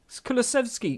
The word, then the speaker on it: Kulusevski: Kulusevski.